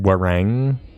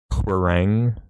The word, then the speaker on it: Hwarang: It's pronounced Warang. It could be actually like saying it a bit quicker than I'm saying it, like Warang, you know?